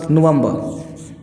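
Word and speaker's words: November: नवंबर। ये लास्ट वाला रे बोलो तो ठीक है, न बोलो तो और ठीक।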